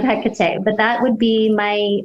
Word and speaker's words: Hekate: you connect with so i strongly align with hekate or hey kata that's how she actually pronounces it for me so i know it's not necessarily the the mainstream pronunciation of hecate but that would be